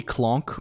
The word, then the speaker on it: Colonq: Um the uh no the the the uh like people people call me clonk mostly like like the sound like anamanopia of getting hit in the head or something.